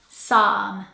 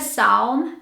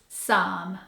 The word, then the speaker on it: psalm: with this word so this word has a silent P a silent L in a very long a so it sounds like somme somme it's not the psalm it's some number 11 this word